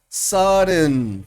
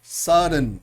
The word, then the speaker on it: sudden: pronunciaciones en inglés y ocurre cuando hay un sonido nasal como la M, la N, por ejemplo, seguido de algún sonido oclusivo de cierre, como una T o una D. Y en vez de hacer uno la pronunciación de los sonidos separados, deja uno liberar el aire por la nariz de la manera Entonces,